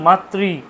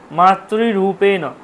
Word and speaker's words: মাতৃ: বলেন মাতৃ মাতৃ মাতৃ আমরা যদি সত্যি অরিজিনাল উচ্চারণ করতে যাই মাতৃ মাতৃরূপেন মাতৃটা উপরের দিকে চলে যাবে কিন্তু আমরা কি বলি মাত্র আমরা কিন্তু তালুতে উচ্চারণ করি তালুতে উচ্চারণ কিন্তু নয় র উচ্চারণ হচ্ছে মূর্ধাতে মাতৃরূপেন সংস্থিতা মাতৃ মাতৃ